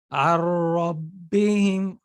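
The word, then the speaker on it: ربهم: So the way to pronounce it is Ar-Rabbihim. See, I didn't spend time with ghunna. I didn't make ghunna with my nose, and I didn't spend time on it.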